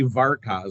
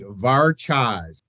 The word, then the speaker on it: Varchas: the name yeah so a lot of people have look at it and they want to say varaz all the time but it's not it's actually varas well and and I